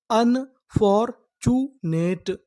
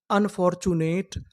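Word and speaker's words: unfortunate: अगर आपको किसी भी मीनिंग के आखिरी में इ लिखा मिले तो हम लोग इ का उच्चारण नहीं करते।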